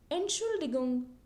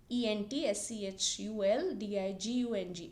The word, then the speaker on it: Entschuldigung: And then if you want to say excuse me, Entschuldigung. Now it's a big word, but you can just remember the word. E-N-T-S-C-H-U-L-D-I-G-U-N-G.